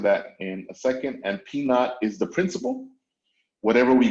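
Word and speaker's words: P₀: The way we pronounce that is P naught.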